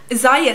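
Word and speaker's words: Ziaja: I've been hearing a lot on the blogosphere lately about Zaya skincare, and it's spelled like Z-I-A-J-A.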